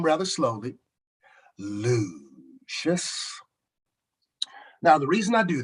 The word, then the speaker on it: Lucius: Now, notice that I said my name rather slowly, Lucius.